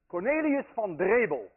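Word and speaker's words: Cornelis Drebbel: Cornelius van Drebel, and I know how to pronounce that name because I'm Dutch.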